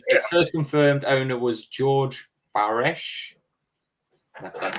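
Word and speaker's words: Georg Baresch: Um, it first confirmed owner was George Bares, that's how you say his name, in 1585, an alchemist from Prague who discovered it taking up space uselessly in his library.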